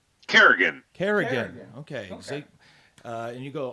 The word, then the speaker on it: Carrigan: is how do you say your last name Kerrigan Kerrigan okay and you go also by MXC